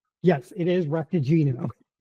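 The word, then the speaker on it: Raktajino: Did I remotely pronounce it correctly? Yes, it is repagino.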